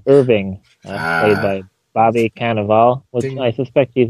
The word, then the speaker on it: Cannavale: Robot, Irving, played Ah, by Bobby Cannavale, which ding.